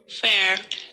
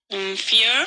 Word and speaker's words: fear: Fair. Careful your pronunciation. Fear. Fear.